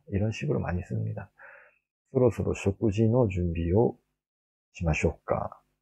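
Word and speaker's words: 食事: 소로소로 쇼쿠지노 준비요 시마쇼우까. 지라고 발음을 했죠. 쇼쿠지.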